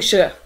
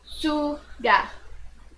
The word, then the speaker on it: Suga: It keeps saying shuh. Suga. It's not the sh, it's the suga.